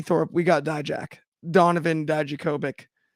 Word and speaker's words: Dijakovic: Donovan Dijakovic. Sorry, I threw a B in there where there was a V.